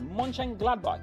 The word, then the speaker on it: Mönchengladbach: How do you pronounce it? Mönchengladbach, yeah.